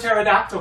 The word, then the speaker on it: pterodactyl: how come you've never heard of pterodactyl go to the bathroom because the pee is silent no I rev you